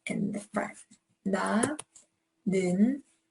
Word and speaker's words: 는: Na, 는, it's the u sound.